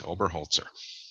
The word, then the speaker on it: Oberholzer: Is it Oberholzer? Holzer. Holzer. Head woodsman in German. Yes, Oberholzer.